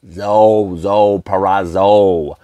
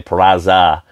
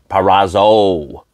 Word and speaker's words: Purrazzo: Purrazzo. I always say Purrazza. Purrazzo.